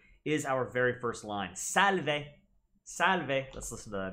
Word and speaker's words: Salve: And so here where they say, Salve, it really should be, Salve, way, way, like a W, like which way to the store, Salve.